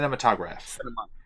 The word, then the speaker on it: cinematograph: Cinematographer? Yeah, whatever. Sure. Cinematograph. It's like skips a syllable.